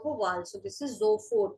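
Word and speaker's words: sofort: get it right away right zford s is pronounced as z whenever it is in front of a wall. So this is Zohfort not so called Zoffort right away.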